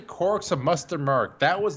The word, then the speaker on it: quark: squork for peculiar objects, and quark, rhyming with pork, came out at the time.